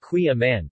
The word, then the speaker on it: Kouign-amann: Queen Amman pronounced qui amman place cooling now amman